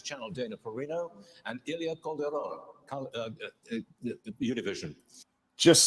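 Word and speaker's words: Calderón: co-moderators, Fox News Channel Dana Perino and Ilya Calderon, Univision. Just say it like a white person, man. Ilya Calderon. Shut up. Why do Ilya Cauldron?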